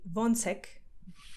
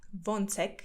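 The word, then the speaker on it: Ո՞նց ես: are how they're feeling you'd say vonsec von seck von tech vonsec okay vontech and there is like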